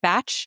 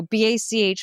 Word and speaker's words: Bach: I'm a big fan of Bach or Bach. Bach, B-A-C-H. I've heard people pronounce it batch. I've heard people pronounce it Bach, but this is just entry level, like 101, right?